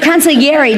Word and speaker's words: consigliere: You're going to be, Yes, you're going to be sort of the consigliere to your son, right?